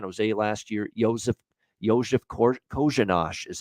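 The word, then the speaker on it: Korenář: games with san jose last year joseph yoshi kojinash is how you pronounce the name uh even though it's spelled like coronar coroner it's actually joseph kozen kojinash for uh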